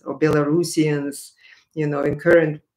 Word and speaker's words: Belarusians: maldavians and um or moldovans maybe should say bill of russians or belarusians you know in current correct pronunciation uh i mean there are so many